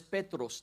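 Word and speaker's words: Πέτρος: In the Greek, the word there is Petros. That's how you say Peter in Greek.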